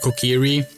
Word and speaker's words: Kokiri: Oh, by the way, we're so annoyed that this that they're actually pronouncing it Kokiri in the new trailer.